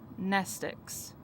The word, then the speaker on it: mnestics: be impossible to remember nestics class w x y and z m n e s t i c s same greek root as the word mnemonic the m is silent in her bag her phone